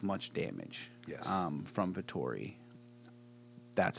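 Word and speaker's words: Vettori: do you say the last name again vittori vittori i said it right hey i'm good i'm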